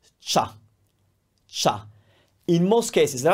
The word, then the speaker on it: ciao: those and think about CIA is one sound cha it's not Chia it's cha that's ciao shurma is the crew